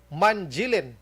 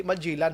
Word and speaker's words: Manjilin: Kag anak bayan party list mga kaaksyon nga si Abubakar Manjilin mga kaaksyon. Action firing line. Sakto na yung pronunciation ko sa apelyido niya. Hindi Manjilan ha, lain man to si Manjilan mo.